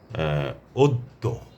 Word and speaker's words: অদ্য: অদ্য। অদ্য মানে আজ। তারপরে হচ্ছে মধ্য। ধন্য। দেখুন দুবার উচ্চারণ হচ্ছে জফলাযুক্ত বর্ণ।